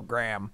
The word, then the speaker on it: Graham: mispronounced my own name I don't say grey um I go gram gram wait how do